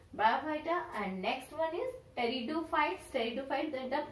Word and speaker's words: pteridophytes: Bryophyta, and next one is pteridophytes. Pteridophytes, that the P is here silent. We call not pteridophytes, we call here the pteridophytes because the P is silent here.